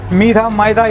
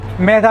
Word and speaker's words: Medha: மைதா என்னென்னலாம் சொல்கிறாங்கன்னு தெரியல. என்கிட்ட சில பேர் கால் வரும், சார் மைதா கம்பெனி வேணும். நானே பயந்துடும், அப்பா என்னடா இது மைதான்னு சொல்கிறாங்களே. ஆக்சுவலி த ப்ரொனவுன்ஸ் Medha, எப்படி வேணாலும் சொல்லிக்கலாம்.